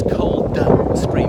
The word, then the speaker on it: Coldstream: I know it's Cold Stream, but we seem to align the D just to pronounce it Coldstream.